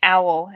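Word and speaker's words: Auel: And the author is Jean Owl, and her last name is spelled A-U-E-L.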